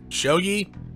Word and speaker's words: shogi: letting me play here you see he's my Shoji friend okay one second I gotta look that up again alright shogi I mean IMS I think that's what I've